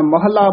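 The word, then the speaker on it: ਮਹਲਾ: जा महला शब्द ही है, जे ससा हाहा सह हुंदा ते मम्मा हाहा मह हुंदा, महला बोलांगे।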